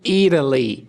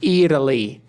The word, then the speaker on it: Italy: Ou Italy. Italy. Tanto faz. Então, tanto o som do T do visited e do Italy podem ser pronunciados como R, visited, visited, e Italy, ou visited e Italy.